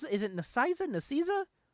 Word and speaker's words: Nicieza: How do you pronounce it? Is it Nicieza? Nicieza. Fabian Nicieza.